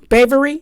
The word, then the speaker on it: Bevere: Bevere?